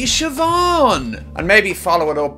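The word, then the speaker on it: Siobhan: and create a humorous segment where they'd ask Elon Musk to pronounce obscure Irish names see aan no it's actually sioban and maybe follow it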